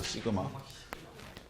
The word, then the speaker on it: 시그마: 얘를 일단 시그마라고 읽어. 시그마.